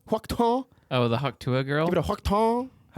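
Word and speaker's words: Hawk Tuah: Huokta? Huokta? Oh, the Haktua girl?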